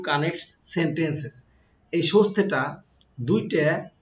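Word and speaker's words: そして: আমারটা হচ্ছে তেমন একটা না তারপরে যাই দেখেন সস্তে সস্তে মানে হচ্ছে এবং সশিতে উচ্চারণটা হয় এমনিশতে কিন্তু আমরা বলার সময় সস্তে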